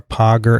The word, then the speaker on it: Pager: So, by the way, I drove to Albany last week to have a nice visit with Kara Pager, as in lager. That's how I remember how to pronounce her name.